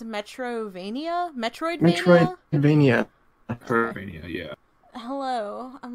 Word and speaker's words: Metroidvania: Its genre, is that pronounced Metroidvania? Metroidvania.